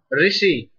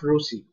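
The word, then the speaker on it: ऋषि: Pitri, Pitri, Pitri, Pitri, Krishna, Rishi, right? Not Rusi. So, but we should speak as this. This is the pure pronunciation of Ru.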